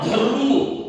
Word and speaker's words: धर्म: इसका प्रोनाउंसिएशन क्या हुआ, धर्म, धर्म, ऐसा इसको भी यहाँ रा के, क्योंकि ये स्वर रहित है, सहित नहीं है। रहित का मतलब स्वर नहीं है, स्वर आ इसके अंदर नहीं है, आधा हो गया है। ये हल्लंत रहने के कारण इसको आधा कहते हैं, और इसको इसकी ध्वनि, इसका उच्चारण भी रु के तरह करना है, ध रु म धर्म, व रु शा वर्षा,